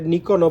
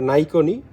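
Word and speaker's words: Nikon: নাইকন Japan এখানে লেখা আছে এটারে নিকনও বলে অনেকে বাট উচ্চারণটা নাইকনই তো এটারও ইয়ে হচ্ছে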